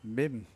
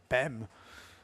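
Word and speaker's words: Bam: Not, we got Bem. Bim. I don't know how you pronounce B-A-M, but I would say Bem. I mean, so just stick an M on the end.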